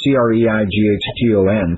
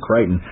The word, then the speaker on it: Creighton: And it's spelled, to me, it's always looked like Creighton, C-R-E-I-G-H-T-O-N, Creighton. It's actually pronounced Creighton, Creighton University.